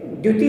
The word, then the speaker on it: द्युति: वास्तविक शब्द ज्योति नहीं है, द्युति है। द्युति, द्युति, द्यु, द्यू द्यू, अगर इस शब्द का उच्चारण करना है तो हमें सुअर जैसा हमारा मुख ऐसा गोल करना पड़ेगा, सुअर जैसा।